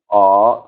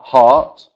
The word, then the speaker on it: heart: heart okay so remember so fruit dine and art heart um and just then vocabulary wise you guys